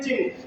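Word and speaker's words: चिह्न: चिन्ह, इसमें हा की ध्वनि पहले आएगी, आधा हा है बीच में।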